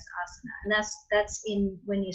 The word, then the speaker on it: asana: And those 8 limbs, we mentioned 3 of them already, yama, niyama, and asana, right? Yama, niyama, and asana. And the only one that has a long A there is asana.